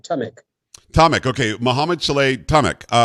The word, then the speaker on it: Tamek: Tamek.